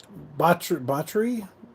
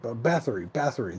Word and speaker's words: Bathory: And just in case, Bathory is spelled Bathory, which is like Bath and Re.